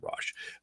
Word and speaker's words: ruach: And the rash or some people pronounce it ruach but I' I've always heard it rash.